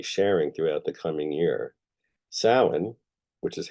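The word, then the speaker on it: Samhain: that I'll be sharing throughout the coming year sin which is how this is pronounced was the final Harvest but also Mark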